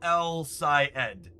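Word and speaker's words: El-Sayed: Syed. Abdul El Syed. Not Eid Ed.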